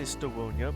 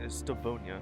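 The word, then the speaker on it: Stawonia: Even the northern stardom of um I was going to say Stonia, but no, it's Stavonia. Huh. I guess the W is pronounced as a V then.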